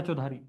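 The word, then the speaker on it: Chaudhuri: Raya चौधारी historian Rai चौधरी आर ए वाई सी एच ए यू डी ए यू चौधरी करके पढ़ो चाहे चौधारी करके पढ़ो स्पेलिंग यही है इसकी।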